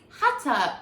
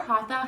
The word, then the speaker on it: Hatha: first style up is Hatha, or Hatha, however you want to pronounce it.